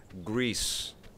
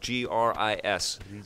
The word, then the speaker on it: Gris: your question from last show the game is pronounced grease grease ok gr is I was pronouncing it Gris and he's saying